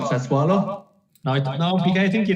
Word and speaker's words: Sassuolo: about the fifth variation on that pronunciation so far tonight. What are they called? Sassuolo?